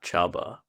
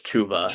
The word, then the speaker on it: Chuba: Um, Devonte Smith probably the guy that got Chubba or it's Chuba actually.